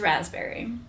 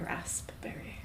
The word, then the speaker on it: raspberry: The P is silent.